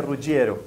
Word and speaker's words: Ruggiero: Se pronuncia Ruggiero.